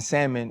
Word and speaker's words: salmon: Uh a thing I have a much harder time telling my loved ones and family members about is that the L in salmon is silent.